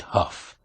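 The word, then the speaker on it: Hough: Dennis what's his name h o u g h pronounced Huff he's Iris Cobb's son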